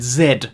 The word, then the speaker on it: zed: than this and yes i said zed because that is the proper pronunciation of the letter you can't just change the pronunciation of a letter to make it rhyme in the alphabet song and next is a